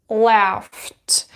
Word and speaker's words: laughed: So we have laugh, is unvoiced, so you will pronounce it as laughed.